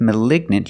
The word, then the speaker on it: malignant: it's a malignant tumor we see the pronunciation difference with malign you have the long i malign and with malignant you have the short eye the e sound a Lig malignant let's